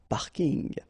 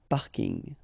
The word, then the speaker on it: parking: parking as well so I know it's coming from English but still you should pronounce it the French way parking parking okay and the last